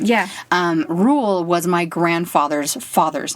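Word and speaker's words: Ruel: Tolkien, the second R is Rule.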